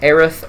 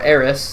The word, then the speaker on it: Aerith: to this ranking so first up we have Aerith or Eris depending on how you wanted to pronounce that I guess we'll go with Eris